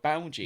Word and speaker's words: Bowgie: no, it's I've been saying bogey for 2.5 years, and it's pronounced Bowgie.